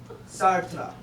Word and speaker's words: Sartre: It's pronounced Sartre. Oh, I didn't know that. He's French.